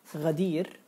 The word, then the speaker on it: غدير: But when we pronounce غدير, we don't say غين غدير. We don't say it like this because there is a difference, as we just explained before, that the letter غين is the name, and how to pronounce the letter is غ.